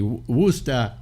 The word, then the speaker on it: Worcester: also uh is it is it spelled like worshire sauce it's spelled w r c s t e are oh okay so anybody wer he's up wer packing yeah